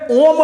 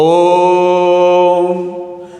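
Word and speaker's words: ओ३म्: कर रहा है कि इसको सीधे ओम नहीं कहेंगे। ओ को तीन मात्रा तक रेघा कर तब म का उच्चारण करेंगे। जैसे ओम ओम ओम सीधे ओम नहीं बोलेंगे तो इस स्वर का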